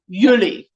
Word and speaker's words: Julie: accent on the you yuli yes now you see our month july if you say it in afrikaans it sounds yuli that's how you say